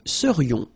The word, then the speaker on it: serions: So then, final S not pronounced, and then this is this yon, yon. Remember, it goes in your nose, it's nasal. Yon, nous serions.